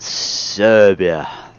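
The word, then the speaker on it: Srbija: Serbia.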